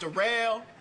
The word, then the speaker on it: Darrell: My name Darrell. It's spelled like Daryl, but it's pronounced Darrell.